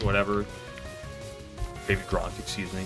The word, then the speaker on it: Baby Gronk: Yeah, I got a 2XS on my Hawk 2 Skivity Riz, Unk, Baby Grok, whatever. Baby Gronk, excuse me.